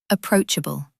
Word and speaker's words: approachable: Word number two, approachable. This means friendly and easy to talk to. Pronunciation tip, emphasis is on the second syllable.